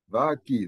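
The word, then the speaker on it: ⲃⲁⲕⲓ: So, the vita will be pronounced as a V if followed by a vowel. I have chosen here the word va-ki. Va-ki, this is a vita, alpha, kappa, k, yota, e. And this is the English pronunciation, va-ki, meaning city, city.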